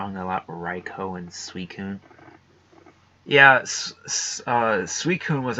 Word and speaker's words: Raikou: And I'd pronounce Raikou the same as Raichu, but then switch the CH with a K.